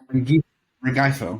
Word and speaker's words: Rengifo: I mean, how do you pronounce his name? The shortstop this year, Luis Rengifo? Rengifo.